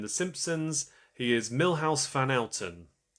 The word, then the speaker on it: Van Houten: He is Milhouse van Houten. It's spelt Van, then Houghton. Van Houten.